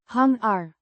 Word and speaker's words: hangar: It's the adjective big in its definite form modifying hungar means hangar pronounced hungar similar to the English pronunciation a noun referring to